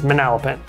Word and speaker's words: Manalapan: pin at the end in the spelling it's manalapan and the way they got that name was